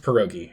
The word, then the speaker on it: pierogi: Yeah, it's pronounced pierogi.